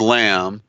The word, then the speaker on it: lamb: because it's lamb, Lam, no B needed, because you notice the B is silent, right?